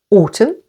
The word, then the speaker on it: autumn: almond calm and palm n is silent after M as in the words Autumn with the stress on the first syllable autum him solemn with the